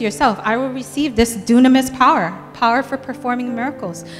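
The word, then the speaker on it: δύναμις: word power is actually looks like it says Dynamis but it's pronounced Dunamis nobody say Dunamis okay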